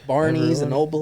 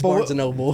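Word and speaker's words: Barnes & Noble: Barney's and Noble. Barney's and No, it's Barnes and Noble.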